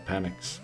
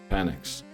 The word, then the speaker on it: Penix: That's why I call them Penix, because that's the way that should be pronounced. Penix.